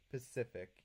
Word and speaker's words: Pacific: Yeah, the stress is in the first syllable, so it's Pacific. Oh, it's the second syllable. Pacific.